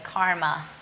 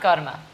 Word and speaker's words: karma: You might know it as karma. It's pronounced karma.